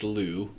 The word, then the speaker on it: Lleu: They're all pronounced Lleu, except for that us at the end of the Gaul, Lugus.